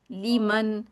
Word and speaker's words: لمن: lemon, لی ٹھیک ہے، اس کو لے نہیں کہنا، ہم یوزلی لے کہہ دیتے ہیں، لے من نہیں ہوگا، لی ٹھیک ہے، لی کو کیا اسپیلنگ ہوں گے، LEE، لی من، می، می ہوتا ہے